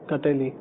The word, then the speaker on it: کٹیلی: تو اس کا جواب یہ ہے کہ کٹیلی نامی, جیسے یہ اس کا تلفظ ہے کٹیلی, تو یہ پنساریوں کی دکان سے مل جاتی ہے.